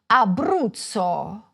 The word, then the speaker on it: Abruzzo: In Italian the stress most often falls on the penultimate, or second-to-last, syllable: firENze. saLERno. toRIno. orvIEto. aBRUzzo.